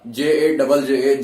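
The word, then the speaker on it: ਜੱਜਾ: J-A-J-J-A, jajja. Stress on the third and fourth.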